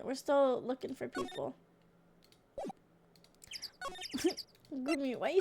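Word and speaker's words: Gumi: It's spelled G-U-M-I. Gummi. Gummi. Gummi. Fiona. Either one. I just finished speaking with the head nun of Hazakura Temple. She testified. Sounds like Gummi. It's two Japanese words.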